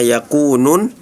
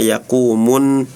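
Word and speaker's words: يكون: Terus juga di surah al-Qariah yauma yaquunun tadi dibacanya yauma yaquumun nas.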